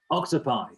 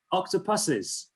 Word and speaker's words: octopuses: So I'll end the poll, and right now most people have gone for octopi. or octopi, apparently, as it should be pronounced. But apparently that's actually incorrect. That isn't the plural. There's a reason for it, and but the actual answer is octopuses at the top there, 38%, not ox-potatoes,